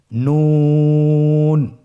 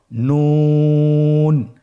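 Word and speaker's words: نون: আপনারা আমার সাথে বলুন নুন। আরেকবার চেষ্টা করুন নুন। নূর হরফটির উচ্চারণ স্থান হচ্ছে জিহ্বার আগা তার বরাবর উপরে তালুর সঙ্গে লাগিয়ে উচ্চারিত হয়।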